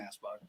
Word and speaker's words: Anspach: You guys It's are Anspach.